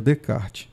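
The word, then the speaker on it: Descartes: Oi Gi de kart se escreve 10 os karts é mas a pronúncia seria de kart né então esse método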